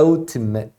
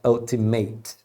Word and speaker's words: ultimate: a palavra Ultimate e a pronúncia é Ultimate não é Ultimate ok Você sabe falar